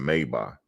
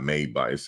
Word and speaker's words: Maybach: I see him driving around with a Maybach. It's not Maybach. It's pronounced Maybach, but a lot of people don't pronounce it right.